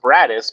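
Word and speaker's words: Broaddus: seen it spelled, since it is pronounced Bradis, but it's spelled Broadest. Bradis, because I think I've been saying Brodus the entire time.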